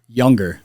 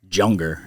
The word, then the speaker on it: Yunger: How do you pronounce your last name? Younger. Younger. Younger. I've had Dude, the best pronunciation was with a J. Junger. And I was like, "Yeah."